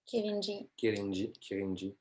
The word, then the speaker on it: Kirinji: Kirinji. It's Kirinji.